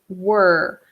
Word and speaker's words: were: think you're absolutely right hold on the people were playing when it started very good now I have a little note on pronunciation the verb here the verb to be here is were so I hear a lot of students say